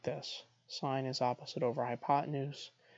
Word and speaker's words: sine: the distance from zero on a number line sine is defined as just the ratio of the opposite side of a right triangle over its hypotenuse we pronounced sine sine please don't say sin cosine please don't